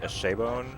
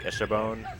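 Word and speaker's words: Eschebone: The way that I pronounce it is like Eshabone, like Eshabone. But I've like seen people type out how they pronounce it in like just about every possible variation.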